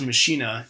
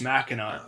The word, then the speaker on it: Machina: called marathon machina and is it machina or mashina well i thought it was meshina then you told me it was mackinac and i and you had me look at the pronunciation i found lo and behold that's actually how it's supposed to be said so so there we